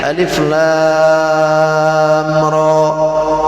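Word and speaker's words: المر: Ada lagi mad lazim harfi musyba mukhaffaf. Kalau ini ringan, Alif Lam Ra.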